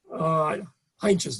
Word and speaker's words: Heintjes: And so I was told to talk to Lana Heintjes.